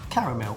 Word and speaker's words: caramel: That is caramel or caramel. How do you say it? Caramel. Caramel. Caramel. Caramel. It has more syllables.